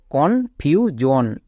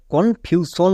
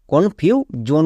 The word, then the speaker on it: confusion: মনে পড়ছে আমি বলেছিলাম কোন ওয়ার্ডের শেষে যদি এস আই ও এন থাকে এবং তার আগে যদি একটি ভাওয়েল থাকে তখন সেটার উচ্চারণ শোন হয় না জোন হয় তাই এর উচ্চারণটা হচ্ছে কনফিউজন যারা আমার রেগুলার ভিউয়ার